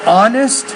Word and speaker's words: honest: honest is only it's it's two syllables not three so honest father gold gold gold